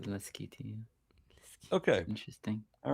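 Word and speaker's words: Lasqueti: I laugh, but seriously, look up Lasquette or Lasquetti. Yeah, that sounds like, honestly, those islands are probably it's the not how you chillest pronounce it. place, but It's it's not how you pronounce it. It's Leskiti.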